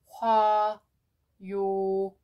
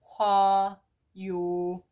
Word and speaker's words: 화요일: And for example, there's no final consonant. There's nothing on the bottom, so we don't need to move something to silent sound.